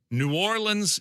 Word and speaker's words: New Orleans: New Orleans is the way to pronounce it. We will even go with nins. You can go nins, but New Orleans, you got to go easy on the lean.